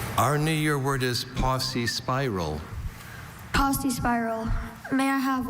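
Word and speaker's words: paucispiral: Are there any alternate pronunciations? Just posy spiral.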